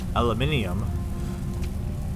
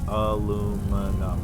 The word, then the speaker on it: aluminium: Like they even adds a whole nother syllable, doesn't it? Like aluminum. Or wait, I guess not aluminium. No, yeah, it does. It adds a whole nother syllable. In 4 syllables. Aluminium 5 syllables.